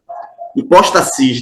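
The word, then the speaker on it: ὑπόστασις: tá vamos continuar então Aqui nós temos a palavra hipóstases hipóstasis na verdade na pronúncia do original e ela significa basicamente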